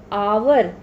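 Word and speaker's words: hour: अब कुछ वर्ड जैसे ऑनेस्ट, आवर, अब इन वर्ड्स में एच हमारा साइलेंट होता है. हम कैसे बोलते हैं ऑनेस्ट, आवर, तो हमको क्या सुनाई दे रहा है?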